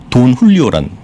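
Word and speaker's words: Don Julio: 데킬라가 그러니까 저는 모르지만 돈 훌리오란 데킬라가 있습니다. 아시는 분 계실 것 같아요. 검색하니까 딱 나오더라고요, 저도. 돈 훌리오. 돈 흘리오? 예, 그 JULIO인데 그걸 그 훌리오라고 읽는 것 같습니다.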